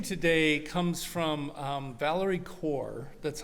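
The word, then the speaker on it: Kaur: My reading today comes from um Valerie Core. That's how the last name is pronounced and it's titled Wonder.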